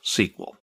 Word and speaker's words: SQL: generally how it's pronounced in SQL is usually pronounced sequel sequel itself is a unified language that defines